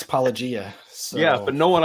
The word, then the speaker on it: Paulogia: Just Paulogia. Like, how hard is it to just say Paulogia? Hey, I may not be the best Christian apologist in the world, but I can pronounce Paulogia.